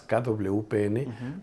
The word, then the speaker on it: KWPN: Es una raza que se pronuncia por sus siglas, KWPN, porque las palabras holandesas son impronunciables.